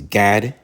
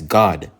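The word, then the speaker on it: גד: number eight uh is God all right in the Hebrew you pronounce it as God like you're saying God all right in Hebrew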